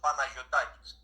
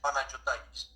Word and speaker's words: Panagiotakis: Actually, Greek pronunciation is Panagiotakis, but the English pronunciation is Panagiotakis.